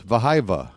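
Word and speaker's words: Wehiwa: It's Wahiwa, but it's Vahiva, right? It's a W, but it pronounce it like a V.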